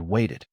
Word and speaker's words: waited: Now compare wanted and waited. Want ends in T and wait also ends in T. So, both past forms use the extra ID syllable.